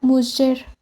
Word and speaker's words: mujer: El tercer fonema es la fricativa postalveolar sonora, representada con la letra G ante vocales como la E o la I, y pronunciada como sh, tal como se observa en la palabra mujer.